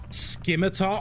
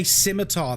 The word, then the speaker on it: scimitar: uh say aluminium which uh is the accepted pronunciation internationally I believe aluminum sword oh my god stop it skimar oh people who can't say scimitar.